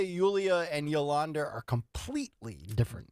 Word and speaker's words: Yulia: All right, so her name is Yulia. Like Julia, but yes, pronounced Yulia. Yulia Navalny, right?